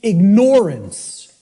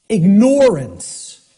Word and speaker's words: ignorance: pronounced I tell people start pronouncing it ignorance ignorance then people will hear the word ignore in it and and the connotation becomes clear it means you're ignoring it ignorance okay that's how